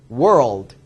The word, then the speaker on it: world: world.